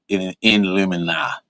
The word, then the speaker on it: Illuminati: And the Jinx material, the Illuminati is Illuminati. That's how that's pronounced.